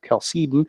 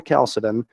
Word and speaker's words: Chalcedon: and the Council of Chalcedon, or Chalcedon, both are correct pronunciations, in 451.